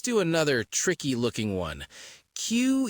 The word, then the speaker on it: queue: You just say the name of the first letter. That's it. It's pronounced Q. Q.